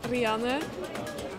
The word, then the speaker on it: Rianne: In Dutch, you say it like Rianne, but for a lot of people, it's really hard to pronounce.